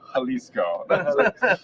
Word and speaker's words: Jalisco: believe it's like oh is it J that must be the way I've been saying it wrong saying it wrong is it it's not yeah it's halisco so yeah big time